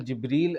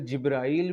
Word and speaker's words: جبریل: مسلط ہوئی۔ اور حضرت جبریل علیہ السلام نے، حضرت جبرائیل بھی آپ نے نہیں کہنا، اپنا تلفظ بھی ٹھیک کریں، حضرت جبریل علیہ السلام